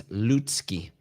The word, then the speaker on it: Lutsky: Whatever it is, it's wrong because it sounds like it has a T. It's Lutsky.